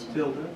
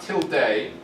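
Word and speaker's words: tilde: to represent not anyone know what that's called Tilda Tilda very good not till day um even though it looks like it if you Ed the Spanish pronunciation t i l d e it's pronounced Tilda I don't know why it's probably German and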